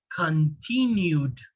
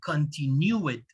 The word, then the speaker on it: continued: have the u sound so once again it has to sound like do continued not continue it continued and the last one